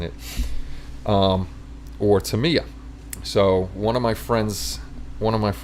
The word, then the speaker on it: Tamiya: So I asked him the correct pronunciation, and it is Tamiya. It's not Tamaya, it's Tamiya. So now we know.